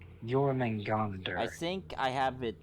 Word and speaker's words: Jormungandr: How do you pronounce it again? Jormungandr. Jormungandr.